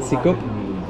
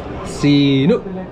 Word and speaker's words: sinok: How do you say it? Sikop? Sinok.